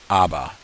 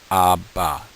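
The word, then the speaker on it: אבא: don't pronounce the h you don't pronounce the aleph abba abba abba the next letter we're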